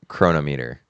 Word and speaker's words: chronometer: But it's called uh a marine chronometer. Chronometer. Chronometer. Yeah. Chronometer. Chronometer. Yeah. Okay. Chronometer. Like, you know, like ther thermometer, hydrometer, barometer. That's how you pronounce it.